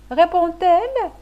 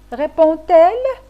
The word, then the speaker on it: répond-elle: ou un D, exemple, répond-elle? Que peut-on déduire? Dans ce cas, il n'y a pas lieu d'ajouter un T et le D se prononce T, comme dans l'exemple répond-elle?